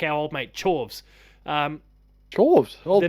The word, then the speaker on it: Chorves: Chorves was at least memorable because it was derivative of a core word and it was actually pronounced chorus, so like you could remember it.